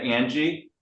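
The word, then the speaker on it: Ange: right it's a n g e can you pronounce that Angie that's correct okay great thank you all right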